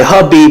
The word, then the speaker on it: Khabib: Oh, I'm sorry, Khabib. I keep saying his name wrong.